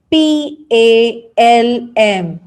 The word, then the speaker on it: palm: it the next one we have here is p a l m so treat m l silent letter and said as palm palm m is